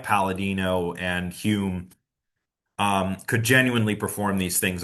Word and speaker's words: Home: So that's why it looks like it's home, but it's pronounced Hume because he was from Scotland. And I guess the pronunciation conventions are a bit different over there.